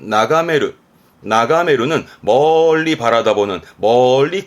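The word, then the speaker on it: 眺める: 초보가 되겠습니다 음도 이거면 되고요 훈독이 많이 쓰이는데요 발음은 나가메르 나가메르는 멀리 바라다 보는 멀리 건너다 보는 의미에서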